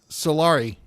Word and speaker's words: Solari: Solari. I almost said sorry. You got to you got to be able to say his name right.